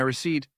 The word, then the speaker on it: receipt: Next time you buy something and get a slip of paper, say here's my receipt, and skip the P completely.